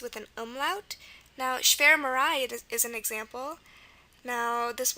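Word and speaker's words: schwarmerei: still pronounced um like it does so it's pronounced sh marai with the short e sound and um it's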